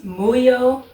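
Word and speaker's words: Muhyo: And I always pronounce it incorrectly. It's Muyo and Roji.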